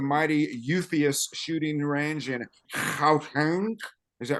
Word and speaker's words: Schalk: Until we meet again at the mighty Eupheus shooting range in Schalk. Is that right? Schalk. Is that how you pronounce it?